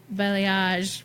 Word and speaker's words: balayage: Audra says we were saying balayage, right?